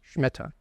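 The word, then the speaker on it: שמיטה: the scha and again in Israeli Hebrew it's pronounced schmitta and um this is the term right there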